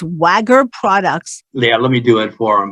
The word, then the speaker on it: Wha-Ger: so we pronounce it wagger you might not look like it's spelled that way but we do pronounce it wagger how apropos for all